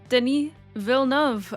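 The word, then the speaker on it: Denis Villeneuve: Deny Vilnov.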